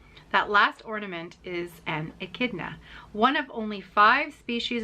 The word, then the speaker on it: echidna: an echidna echidna and it's spelled d e-c-h-i-d-n a and it's pronounced echidna i'm pretty sure i've got that right and i'm going to